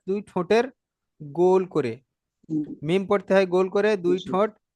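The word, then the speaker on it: ميم: দুটো ঠোঁটের শুকনো ভাব এক জায়গায় হয়ে যাচ্ছে, মিম, মিম। মি আর বাটা যখন উচ্চারণ মিম হচ্ছে তখন কিন্তু ঠোঁটটা বন্ধ হচ্ছে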